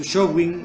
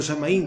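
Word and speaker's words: Samhain: se deben denominar, pois, Showin, ou mal pronunciado Samaín, que se deben dizer agora Samaín, non sei por qué, traducindo ou lendo a palabra irlandesa e non adoptando a pronuncia.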